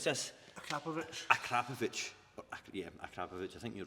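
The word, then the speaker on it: Akrapovič: Now, how do we pronounce this? Akrapovic. Akrapovic. Yeah, Akrapovic.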